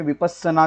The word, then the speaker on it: विपस्सना: उससे पहले आपको ये बता दूं कि ये जो वर्ड है विपश्यना, इसको संस्कृत में विपश्यना कहा जाता है और पाली में विपस्सना कहा जाता है। मैं पाली तो बहुत अच्छे से प्रोनाउंस नहीं कर पाऊंगा, फिर भी आपको इतना बता सकता हूँ कि विपस्सना ऐसा कहा जाता है और संस्कृत में इसको विपश्यना ऐसा कहा जाता है। तो हम इसको विपश्यना ये प्रोनाउंस करेंगे यहाँ पे।